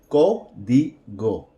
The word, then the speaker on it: código: We're going to pronounce this word código.